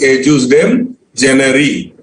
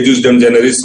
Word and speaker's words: ejusdem generis: The pronunciation is Ejusdem, generi. Okay, you can say Ejusdem generis also if you want to, but then Ejusdem generi.